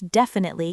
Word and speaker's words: definitely: Try shadowing that phrase and put the stress on the first syllable of definitely. Let's definitely catch up next week.